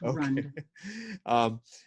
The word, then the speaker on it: Rand: They call it the Rund Corporation. Let's pronounce it correctly. It's Rund.